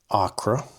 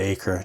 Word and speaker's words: Acra: This was a four book series and uh the first book, a Acra, I butchered the pronunciation of that in one of my earlier videos. I I kept calling it acre just because that's how my writer's mind works.